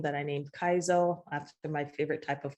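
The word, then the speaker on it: Kaiso: name, that I named Kaizo, after my favorite type of calypso, soca music. The correct pronunciation is Kaizo, but a lot of people can't do the sing-song pronunciation, so we say Kaizo.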